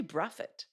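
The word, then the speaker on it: Brathwaite: mean I'm I'm just a massive Craig uh broth weight fan did you know apparently the real way to pronounce his name is bruffet I've been told it's actually Buffett it's the local way which there you go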